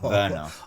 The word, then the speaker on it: Werner: Yes, I am, but it's pronounced Werner.